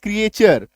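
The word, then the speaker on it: creature: टी के बाद URE अगर आप जाएंगे तो क्रिएचर, इसको क्रिएचर भी बोलते हैं, क्रीचर भी बोलते हैं, बहुत प्रोनाउंसिएशन।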